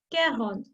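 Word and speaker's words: quarante: cairo the 43 will be care horns thrower care on through 45 will be care hon sank 40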